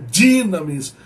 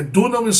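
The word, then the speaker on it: δύναμις: dinamis, não é dunamis não, gente, é dinamis. É dunamis só quando o ômicron está junto com o Y, formando um ditongo aí e fala assim, du. Agora, quando o Y está sozinho, essa pronúncia de I ou Y, então é dinamis.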